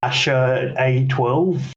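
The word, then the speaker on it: X Æ A-12: And it's pronounced something like Asher A12?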